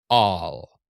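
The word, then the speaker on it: עַל: All, all. Same as our word ALL in pronunciation. All, except you're going to start it in the back of the throat.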